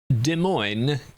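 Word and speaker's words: Des Moines: I looked up someone that was doing like a proper pronunciation video of it. That's what I used as a snippet in my video. And uh De Moine is basically how he said it.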